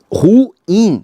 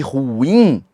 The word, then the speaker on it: ruim: Ruim. Detalhe, viu? A pronúncia de ruim é ruim e não ruim.